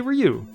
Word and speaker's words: Ryu: starts with an r how do you say it phonetically ryu yeah you say ryu yeah it's ryu people say ryu in in north america and and uh other